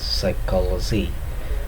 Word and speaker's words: psychology: And then P, in psychology, in the medical terms, psychology, though the letter begins with P, but here P becomes silent. Therefore, we pronounce it as psychology.